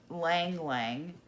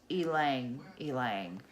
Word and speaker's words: ylang-ylang: flowers called ylang ylang so what I'm saying Liang Liang that is not how you pronounce it it is Alang Alang hmm write down where'd